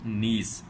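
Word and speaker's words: niece: Not mostly students pronounce this word is नाइस, but that word is नॉट नाइस, that word is नीस।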